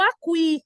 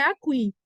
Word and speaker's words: aqui: não sei eu estou aqui agora é estranho então a pronúncia correta não é a Queen é aqui se o é mudo como é o caso de aqui aí sim a gente